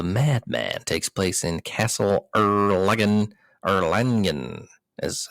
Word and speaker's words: Erlangen: Trail of the Madman takes place in Castle Erlangen, is how you say that, where Blacksworth's goal is to find the maps and plans for the chemical war.